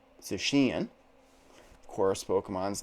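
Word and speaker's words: Zacian: i presume pronounce it zachin zashian is another pronunciation but i watched the trailer done by the japanese and that's how they pronounced it susheen of course pokemon's names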